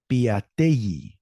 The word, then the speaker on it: Piatelli: Piatelli. It's a double L, so it sounds like a Y.